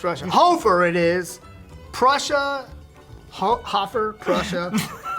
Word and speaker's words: Hoferer: i'm pretty sure i my family pronounces it hofer but uh dude it gets butchered constantly it's h-o-f-e-r-e-r it makes no sense there's a silent er on the end of my name and this is my